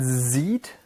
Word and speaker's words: sieht: And sieht is pronounced a bit differently than the English word to see, but you hopefully see the relation.